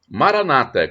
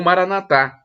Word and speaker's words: Maranata: E eu clamo no aramaico, dialeto de Jesus Cristo, Maranata, como dizem os protestantes com a tônica na penúltima sílaba, ou Maranatá, como dizem os católicos com a tônica na última sílaba.